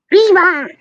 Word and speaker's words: Riva: And then if you get the Riva ones, they're 4 for £1, but they're 60 grams each. So you're actually getting Oh, Riva. okay. Riva! That's how you pronounce it. It's Riva!